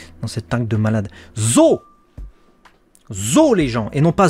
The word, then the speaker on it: Zou: C'est écrit Zou, donc tu prononces Zou, mais c'est Zo. C'est pas Zou, c'est Zo. C'est un éléphant en japonais, Zo. C'est ça. Mais ça s'écrit comme ça en fait. Hein, le U après un O, ça prolonge le O en fait.